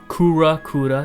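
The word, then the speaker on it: クウラ: He says, Kura, that's how you pronounce his name in Japanese.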